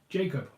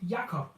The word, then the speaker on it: Jakob: If you're asking me what my name is, yes, it is surely Jacob, or Jakob, if you will. The Danish way to pronounce it is Jakob, whereas the English, of course, is Jacob.